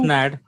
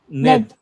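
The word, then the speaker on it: נד: Next one is Ned. Nad. Ned. Not Nad. Ned. Ned.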